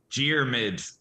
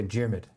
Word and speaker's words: Diarmuid: The spelling makes it a lot more complicated than it is. Two syllables. Why Diarmuid. not? Okay, Diarmuid. Yeah. Like with a G, not with Like a with a D. J, kind of. Like with a J.